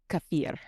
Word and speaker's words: kefir: Supposed to be pronounced kafir.